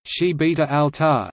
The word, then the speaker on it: Gibraltar: Gibraltar Spanish pronunciation chibita Alta is a British overseas